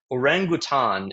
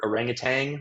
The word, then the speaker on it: orangutan: Orangutan is the corre pronunciation. I'm not exactly sure where we sort of learn the word orangutang like putting a G on the end of it.